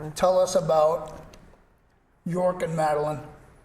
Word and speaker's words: Jorg: And so I've learned tonight that it is York, not George. George is the American way.